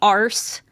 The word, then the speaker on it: arse: You don't pronounce the R.